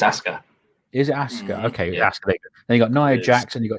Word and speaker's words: Asuka: name because i i it looks like asuka but the accent says um yeah because regal says ask her doesn't he it's oscar here's oscar okay then